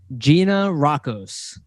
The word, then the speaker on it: Gianarakos: I'm going to say it right this time, Gianarakos.